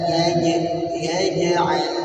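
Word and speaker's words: يجعل: Maka kita baca alam yaj'al, jangan yaj.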